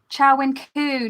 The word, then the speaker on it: Chow Wen Kwu: Is it Wu or Kwu? Hang on. Let me just check because I've just been listening to it and I always get her name wrong. Chow Wen, Witches and Wine is her channel. There's her channel. Let me see if I can find her about section. I always get her name wrong. Chow Wen Kwu, not Wu.